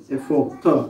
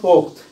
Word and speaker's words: পোক্ত: কিন্তু আমরা এখানে যখন পোক্ত শব্দটা উচ্চারণ করতেছি ত, এটা কিন্তু শেষে কি আসতেছে, অ আসতেছে, যদিও এটা দেখা যাচ্ছে না। পোক্ত এটা হচ্ছে প ও খ প্লাস ত, এটাই শেষ এখানে।